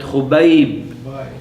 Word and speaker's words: Khubayb: So it's khu, bayb, bayb. Hadrat Khubayb ibn Adi radiyallahu ta'ala an as-sahaba ajma'in.